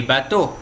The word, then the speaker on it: bateaux: Então, por exemplo, le bateau, les bateaux. Então a pronúncia é idêntica, ó. Bateau, bateau. Com X e sem X é o mesmo, bateau.